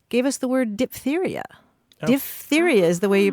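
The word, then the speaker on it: diphtheria: dthera which um gave us the word diptheria D theia is the way you pronounce it because um part of the characteristics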